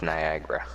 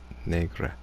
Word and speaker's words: negra: I think it's pronounced Niagara. No, it's Negra. Negra. Piedra. It's Argentinian for black.